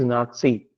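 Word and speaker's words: Nazi: वैसे नाजी okay. तो नाम गलत है। ये मतलब नाजी नाजी नाजी तो नाम सही है, लेकिन ये प्रोनाउंसिएशन गलत है। इट इज नाथसी।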